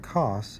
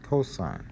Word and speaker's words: cosine: it's shortened to cos but don't call it costs is cosine and what that is is the adjacent side